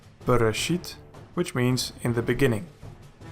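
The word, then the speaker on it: בְּרֵאשִׁית: The first example has nothing in front of it, so it is a Dagesh Lene and pronounced hard. Bereshit, which means in the beginning.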